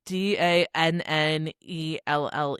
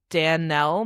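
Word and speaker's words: Danelle: Turns out that it's I don't know how it's it's spelled D A N E L L E Dan Nell. Dan Nell. I think it's Danell.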